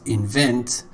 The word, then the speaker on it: invent: Invent. The second syllable is stressed, and already.